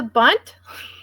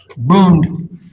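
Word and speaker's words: Bund: the organized Jewish proletariat the bun is that how you say it the bunt boond the boond the boond which walked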